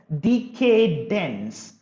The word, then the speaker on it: decadence: moral loneliness is decadence you can even pronounce it as decay dense decay dense dense bk isn't it decadence